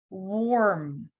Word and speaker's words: warm: Because sometimes it can be read as OR, да? У нас бывает иногда путаница. Почему? Потому что AR также может читаться не как R, а как OR. Wart, warm, бородавка, wart, warm, теплый.